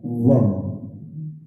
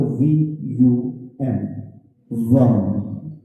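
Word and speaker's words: वं: मंत्र है वो है वम, यानी कि वो के पर एक बिंदी जब हम उसका उच्चारण करते हैं वो कहलाता है वम। अंग्रेजी की बात करूं तो VUM, वम। क्या फिर से आपका जी आपके तालु से कनेक्ट हुआ?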